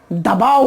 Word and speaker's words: the: जब weak form में articles का हम प्रोनाउंसिएशन करते हैं तो ए को बोलते हैं अ, ए एन को बोलते हैं अन, और टी को बोलते हैं द या दे।